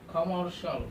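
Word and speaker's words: commercial: artificial artificial artificial অর্থাৎ সি আইল থাকলে কি হবে আমাদের উচ্চারণটা সল হবে সল আর্টিফিশিয়াল আর্টিফিশিয়াল নট আর্টিফিশিয়াল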